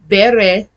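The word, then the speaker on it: Bereshit: Ber sheet. B E R E S H I T. But it's pronounced Bereit in Hebrew.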